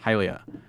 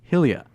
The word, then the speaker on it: Hylia: name but hated that it might be mistaken and pronounced Helia I said that would never happen as you do not pronounce words like hydrogen as hill region when you were guessing